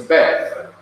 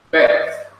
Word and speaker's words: Beth: It's Beth. Beth.